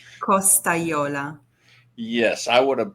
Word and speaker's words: Costagliola: Please, how do you pronounce your last name? Costagliola.